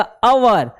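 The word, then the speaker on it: hour: ये इसको पढ़ोगे तो आएगा अवर, ऑनेस्ट, ऑनर, ठीक है, MBA, MBBS, MA, MSc, MMR, MCOM, MLA, NCC, X-ray, Xmas, तो बच्चों इसमें देखोगे ना, तो इन सब के प्रोनाउंसिएशन में आपको वोवेल साउंड आएगा।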